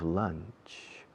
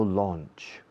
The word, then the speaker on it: lunch: I have lunch, lunch, lunch. No launch. Launch is lanzar.